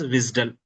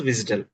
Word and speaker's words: WSDL: This is pronounced as WISDL. Okay. WSDL file is pronounced as WISDL.